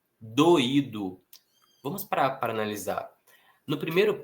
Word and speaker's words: doído: né, a tônica, e doído também temos hiato, o I estando sozinho na sílaba e sendo a sílaba mais forte.